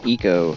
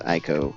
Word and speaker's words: ICO: Either Shadow of the Colossus or that game called Eco. I believe it's Eco. A lot of people say it's Ico.